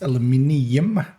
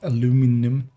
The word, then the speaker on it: aluminium: you pronounce that thing it's aluminium not aluminum oh of course there's